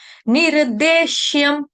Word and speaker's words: निर्देश्यम: पूरा करेंगे निर्देशम निर्देशम नी जो है ह्रस्व मात्रा उसके साथ मात्रा जो है नी के साथ लगी हुई छोटी इ की मात्रा निर्देश्यम आधा शलगम का या शरबत वाला उसके आगे है य यज्ञ का आधा म हलंत म क्योंकि म की